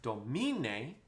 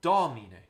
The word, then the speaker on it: Domine: that oops was the the accent was wrong right it's not domine even though there's more kind of notes on me it's domine right it's important it's